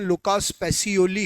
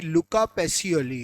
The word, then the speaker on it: लुका पैसियोली: हाँ, बिल्कुल सही बोला है, लुका पैसियोली, ठीक है ना। कई जगह उसका प्रोनाउंसिएशन लुकास पैसियोली है, एग्जैक्टली लुका पैसियोली है, ठीक है ना।